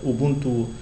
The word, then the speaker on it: Ubuntu: Donc, Ubuntu, on le prononce Ubuntu.